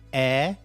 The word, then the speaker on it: heir: But also the word honest, also the word heir, H-E-I-R, which is basically the person who inherits your property, your belongings. Heir is pronounced air, like the air in the room, A-I-R, but the spelling is H-E-I-R.